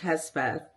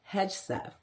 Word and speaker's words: Hegseth: Now, Pete Hegseth, I said it wrong, Pete Hegseth is the co-host, or was the co-host, for Fox and Friends Weekends.